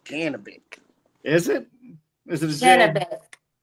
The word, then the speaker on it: Janibek: Janibek? I call him Janibek. Yeah, I do too. too. Pronounced Janibek.